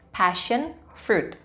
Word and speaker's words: passion fruit: Pastikan pengucapan dari kedua kata ini benar, passion fruit. Karena passion, kalau diucapkan secara berbeda, passion, itu bisa berarti yang lain. Bisa berarti sabar, bisa berarti pasien di rumah sakit. Jadi pastikan pengucapannya tepat ya, passion fruit.